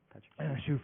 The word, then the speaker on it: Shuff: to like read or ask him how to pronounce his name or anything. Shuff, yes.